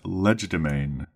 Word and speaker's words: legerdemain: our third word is leg domain leg domain it is spelled l e g e r Ledger d e m a i n domain Leger domain leer domain comes from French